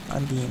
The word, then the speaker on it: Undine: I think Brooch of Love only gives like a Dryad and an Undine? Undine, I'm pretty sure.